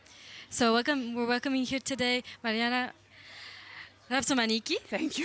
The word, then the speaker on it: Marianna Rapsomaniki: So we're welcoming here today Marianna Rapsomaniki, Thank you.